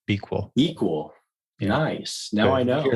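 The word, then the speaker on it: BQool: right now myself or b cool is actually how they pronounce it like equal but you put a b on the front b equal nice now i know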